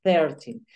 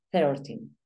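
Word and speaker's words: thirteen: Thir, recuerda th, por lo tanto suena thir, no sino thirtin.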